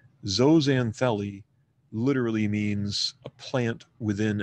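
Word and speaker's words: zooxanthellae: algae is generically called zanelli zanelli literally means a plant within an animal zo referring to to uh animal it's pronounced zo not Zoo if you will say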